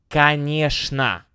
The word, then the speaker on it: Конечно: Конечно, of course, pronounced with a sh sound.